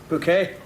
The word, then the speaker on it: Bouquet: Oh, bucket. It's bouquet. I'm afraid you won't be aware of very much, Mrs. Bucket. Bouquet. It's very kind of you to invite us, Mrs. Bucket. It's bouquet, Vicar. Oh, I'm sorry. Is that for me? It says bucket on the envelope. It's bouquet. B-U-C-K-E-T. Bouquet. The accent on the second syllable.